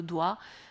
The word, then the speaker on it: doigt: importants et timo logique comme le doigt par exemple le gt timo logique et pourtant personne ne dit le doit être parce que c'est étymologiquement donc bon on a aussi